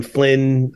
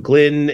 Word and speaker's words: Glynn: We want to thank Adam Flynn, all the great people at CJNU. Thank you for mispronouncing Adam's last name, because I thought I was the only one that got last names wrong. It's Adam Glynn.